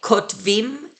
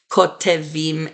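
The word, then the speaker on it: כותבים: So we say kotvim and kotvot, not kotevim and kotevot.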